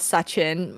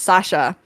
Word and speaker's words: Sasha: But I feel like people who are like so there's this guy I follow called Sachin, not Sachin, it's Sasha, something that rhymes with Sachin, and then like he